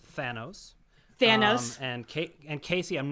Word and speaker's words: Thanos: It's Thanos.